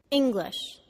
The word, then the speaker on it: English: say it engineer engineer English the first syllable is stressed Ing and the second syllable is slightly de-stressed glitch English photograph the first